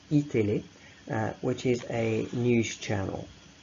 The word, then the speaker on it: iTélé: And you've also got iTélé, that's how it's pronounced, iTélé, which is a news channel.